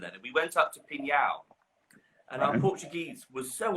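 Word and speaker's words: Pinhão: we went up to pingyao and I'm Portuguese was so awful we pronounce it pin hair we just hit the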